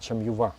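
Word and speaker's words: Çamyuva: плане мне нравится больше точнее правильно говорить чем юва Как турки говорят то есть они отделены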